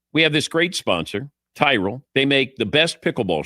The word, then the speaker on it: Tyrol: You spell it Tyrol. Tyrell pickleball shoes, the best pickleball shoes, purpose-built for pickleball.